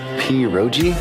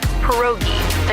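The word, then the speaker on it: pierogi: Periro. Did I pronounce that right? It's pronounced perogi.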